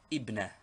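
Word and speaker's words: ابنة: But in speaking or in newspaper reading, this tanween is always dropped, as it is only a case ending, and the word is pronounced ibna.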